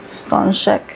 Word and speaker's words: Stańczyk: Baby, you pronounce this. So it's Stańczyk.